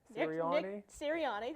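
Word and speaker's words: Sirianni: so I I do want to hear Tom pronounce the name I am I think believe Nick siriani syriani there we go okay Eagles head coach go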